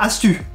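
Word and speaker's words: ἄστυ: Oui, ça se prononce Astu, mais ça s'écrit avec un Y. Oui, le Y en grec ancien se prononce U. Mais alors pourquoi ça se... Ah, Astu!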